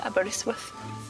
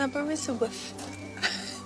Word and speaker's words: Aberystwyth: Banger and Aberystwyth. Am I saying it right? Aberystwyth. Aberystwyth. How can I help?